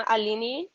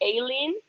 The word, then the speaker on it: Aline: with your name yep so i'm alini but usually people especially here call me because it's easy every time people say my name wrong they call me alien yeah i was looking